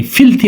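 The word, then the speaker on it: filthy: হি ইজ ইন এ bad mood, in a foul mood, in এ ফিলথি mood. এটা ফিলদি না, ফিলথি উচ্চারণ হবে, হ্যাঁ, ফিলথি মুড, খারাপ মেজাজে থাকা।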